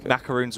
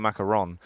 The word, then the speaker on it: macaron: a souffle a souffle macaroons are also very hard yeah the main pod you know it's actually a macaron macaroon is the it's the wrong pronunciation that's not your thing